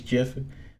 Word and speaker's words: GIF: a cool GIF because I'm not saying GIF it's not the right way to say it's always Jeff um and I saw